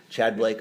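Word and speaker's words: Tchad: i don't know blake chad blake okay the t is just there to confuse me um but uh we've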